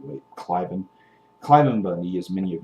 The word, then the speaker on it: Cliven: That's how you pronounce his name anyway, Cliven.